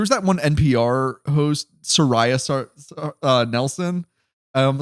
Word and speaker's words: Saria: I was like, is that how you're supposed to say it? Sariah. I've only heard Sara. Yeah, I've only heard Sara for her name, so that's how I'll be pronouncing it.